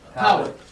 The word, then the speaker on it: Poway: Poway.